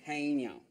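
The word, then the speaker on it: haenyeo: You pronounce it Haenyao.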